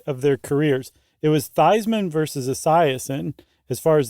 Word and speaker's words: Theismann: Uh no, I was Yeah, I the story goes it was Joe Theismann and in college he changed it to Theismann to rhyme with Heisman.